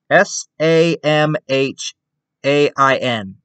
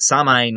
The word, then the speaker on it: Samhain: no it says samhain they like entirely ignore the m and the h and i think the a so basically you could